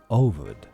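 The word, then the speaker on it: Овод: a hugely popular Russian novel whose name is pronounced ovod.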